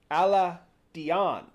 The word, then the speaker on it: Aladdin: wait what yes and the original pronunciation was believed to actually be to be alad Dion but it was changed into Aladdin um but yeah and